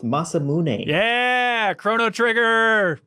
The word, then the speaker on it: Masamune: original imagery of just like he left the mass imune like this huge sword oh whoa whoa whoa